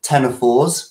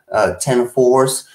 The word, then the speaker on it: ctenophores: They are, depending on the species, some are what we would call ctenophores, which is spelled C-T-E-N-O-4, ctenophores.